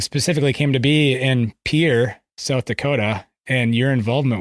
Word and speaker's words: Pierre: Pierre, like a boat dock, South Dakota. That's right. Yeah, you can automatically tell if somebody's from, South Dakota or not based on if they can pronounce the state capital the French way or the South Dakota way. So yeah, it's definitely more like the boat dock.